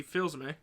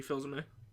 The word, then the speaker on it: Fils-Aimé: He was like beta Reggie Fils-Aimé. Yeah, a little bit. I know it's honestly, pronounced Fils-Aimé, but he fills me with a lot of joy.